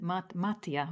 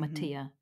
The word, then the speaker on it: Mattia: It's actually an Italian name, and it's Ah. not one that people are used to. And I don't pronounce it in the Italian way, right? I don't say it like with an Italian accent or anything, but Ah, so would the stress be on, is it Mattia? Would that be the Italian version?